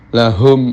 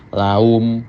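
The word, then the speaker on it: لهم: Umpamanya lahum ajruhum inda rabbihim diucapkan laum. Nah, laum itu kan hanya bibir saja.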